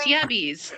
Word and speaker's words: yabbies: It's like, yeah, we got bees, yabbies.